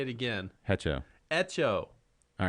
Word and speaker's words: hecho: proper pronunciation you can spanish the h is always silent okay and if you say hecho i'm going to get up and walk out of here you say it again hecho echo all right the h